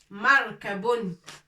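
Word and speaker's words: مركب: Alors, c'est markabun.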